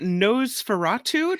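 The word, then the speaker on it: Nosferatu: on the list yeah this one is interesting nose feratu did I say it right yeah NOS Fatu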